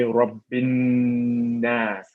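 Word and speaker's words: رب الناس: Well, it should actually be Qul a'udhu bi rabbin nas. Rabbin nas. So we add the 2 seconds here, and then we call this harf ghunnah mushaddad.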